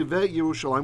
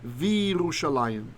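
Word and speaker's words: וירושלים: And when we want to say and Jerusalem, we don't say ve Yerushalayim, we say Virushalayim.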